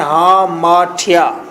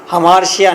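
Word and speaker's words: hamartia: हामार्टिया pronunciation है हामार्टिया, हमार्शिया नहीं है। कुछ लोग आपको मिलेंगे मार्केट में जो फिर हमार्शिया कहेंगे, तो आपने उन्हें बताना है कि ये हमार्टिया है।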